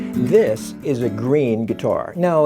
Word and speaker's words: Gruene: This is a green guitar. No, it's not green as in the color, and I'm not colorblind, and neither are you, but it is a green guitar, and green is spelled G-R-U-E-N-E.